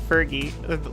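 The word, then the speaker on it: Vergil: The group that attacked me earlier and that Vergie. We're gonna pronounce it like Fergie. I've never say that Fergie.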